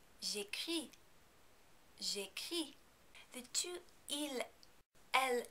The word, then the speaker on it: j'écris: Also, you know not to pronounce the S at the end of the word because there is no vowel coming after it. J'écris.